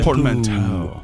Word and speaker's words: portmanteau: Portmanteau. Portmanteau is how you pronounce it.